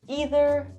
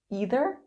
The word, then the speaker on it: either: There are two different ways you can pronounce these words. Either, either, either, either, either, either. Neither, neither, neither, neither, neither, neither. Both ways are perfectly correct.